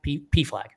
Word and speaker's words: PFLAG: Is it pronounced PFLAG or is it PFLAG? PFLAG. Yeah, you got it.